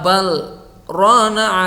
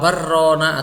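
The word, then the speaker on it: بَلْ رَانَ: Kalla bal rana ala qulubihim ma kanu yaksibun. Nah, ini wajib dibaca saktah. Ya, tidak boleh kalla barrona atau kalla bal terus ambekan rona. Nah, itu tidak boleh. Wajib saktah, berhenti tanpa mengambil nafas.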